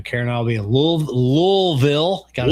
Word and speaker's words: Louisville: Yeah, you know, Karen and I'll be in Louisville. Gotta say it right. Louisville for a weekend, having some adventures.